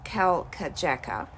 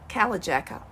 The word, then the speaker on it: Kalkajaka: the name of the mountain wrongly it is pronounced Cal K Jacka and I've noticed I've said Cal Jacker a lot during the video so I just